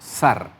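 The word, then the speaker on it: שַׂר: que hay un punto cuando el punto Está al lado derecho se pronuncia como sh como decía si el punto estuviera a la derecha se pronunciaría sharp pero en este caso como el punto está a la izquierda se pronuncia como zar se pronuncia como zar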